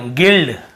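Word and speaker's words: guild: जी आई एल डी यहां पे गाइड sorry गिल्ड गिल्ड लिखा हुआ है।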